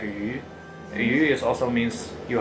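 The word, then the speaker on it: 鱼: It says like because And this fish is pronounced like yu.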